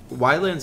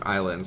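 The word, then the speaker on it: Ylands: Astra near our what why lens actually it's pronounced islands but it's spelled with the Y's so I just say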